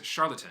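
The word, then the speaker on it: Charlottetown: its friends capital and largest city is charlatan sounds like the word charlatan yeah i'm not sure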